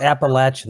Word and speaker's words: Appalachian: You're going to have to call it Appalachian. They might club you up here if you say it wrong.